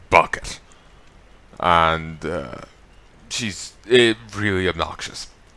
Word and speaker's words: Bucket: for herself she hurrah she insisted pronouncing her name bouquet but it's actually bucket and she's it really